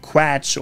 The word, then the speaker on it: Quatsch: The English mispronunciation is probably something like quatsch or quatsch, but it should be Quatsch.